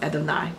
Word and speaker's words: Adonai: hoping you're hopeful but in respect for God's holy name it's pronounced adenine or what we come